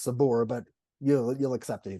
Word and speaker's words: Sabar: a nice side note Sabor means patience and that's spelled s-a-b-a-r so it's a bar as well if you want to pronounce it that way that most people